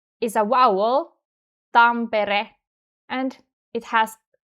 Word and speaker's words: Tampere: In the word Turku, R sounds stronger than in Tampere, right?